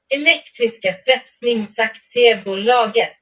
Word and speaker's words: Elektriska svetsningsaktiebolaget: Произносится она вот так. Elektriska svetsningsaktiebolaget.